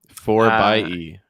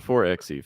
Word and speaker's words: 4xe: You know how they prefer to pronounce that name? 4 by E. 4xe, excuse me. That's a little bit out there to me, but yeah, 4 by E, not 4xe, 4 by E.